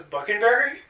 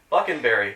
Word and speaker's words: Buckenberry: Buckenberry, spelled like fucking-berry with a B.